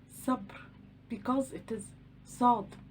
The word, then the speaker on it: ص: The letter Sad. Sad. It has no counterparts in English. It is pronounced s, s, s. It is the heavy form of the letter Sin.